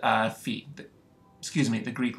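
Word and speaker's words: phi: this symbol from the Greek alphabet which is Fe so remember the peptide can rotate around this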